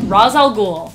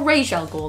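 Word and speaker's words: Ra's al Ghul: that one number five razal ghoul or Rael ghoul depending on how you want to say it like Batman Rosal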